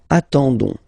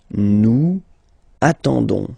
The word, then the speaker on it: attendons: nous, so O-N-S, okay, you don't pronounce the S, so you get only this on sound, okay, attendons, nous attendons, so we'll make the link between the two, la liaison, nous attendons, nous attendons, vous form, same thing,